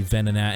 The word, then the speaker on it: Venonat: He says Venonat and Venomoth. Obviously, it's supposed to be Venonat and Venomoth. It's based off the word venom.